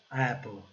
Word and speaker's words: apple: Apple, apple. esse E com A, né, essa mistura de E com A, que a gente não pronuncia nem E nem A, né? Apple, ok? A palavra termina no L, né?